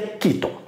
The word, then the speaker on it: chiton: Se escreve chiton, mas se pronuncia quiton.